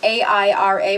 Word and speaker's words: Aira: Today, my video is going to be about Aira, which is A-I-R-A, but they pronounce it Aira.